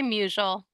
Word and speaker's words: Musil: name correctly um yeah I just say muel um I'm muel